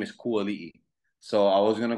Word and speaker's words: Kuali'i: like telemarketer, they're like, is this Kuali? I'm like, yo, I hang up real quick because I hate that they pronounce it wrong. Like, so that's why I chose, because Ali'i.